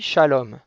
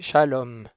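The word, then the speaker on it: שלום: comment ça s'écrit shalom shalom ça s'écrit avec un chine donc le chine c'est le trident c'est la fourchette qui a un point en haut à droite pour signifier que c'est bien un chine et non pas un signe la ponctuation en dessous c'est un camatte donc le ka mate c'est comme un thé qui se prononce a donc le chine avec le chromate ça va faire ch a ensuite on a un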